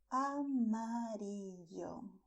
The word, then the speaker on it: amarillo: And the color yellow in Spanish is called amarillo. Amarillo. Okay, you see a, I, o. These are the vowels in amarillo.